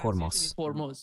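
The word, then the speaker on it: Hormuz: En Persa se pronuncia Hormos.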